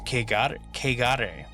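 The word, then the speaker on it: 穢れ: That is kegare. I think they showed us the pronunciation. I think it's K, like K-A-Y. Kegare.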